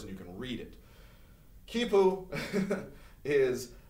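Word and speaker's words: quipu: system of record keeping called kipu with a q i want to make sure i spell it right because kipu always always gets me it is still a u huh all right ki poo this is a uh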